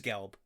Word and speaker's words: Gelb: It's a Gleb situation. It's fine. Sure. Gelb? It is Gelb. Is it? You said it wrong.